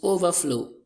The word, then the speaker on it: overflow: Look at this, overflow. Overflow. We have our stress on the second word as well.